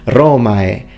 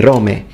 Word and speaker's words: Romae: In fact, he says Romae. He uses the full diphthong, Romae. He doesn't say Rome.